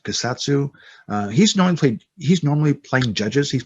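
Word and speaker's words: Kusatsu: The guy who played Wong, Clyde, and I believe it's pronounced Kasatsu.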